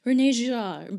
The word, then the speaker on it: René Girard: Girard, and I know the proper French pronunciation is something like René Girard, but I am god-awful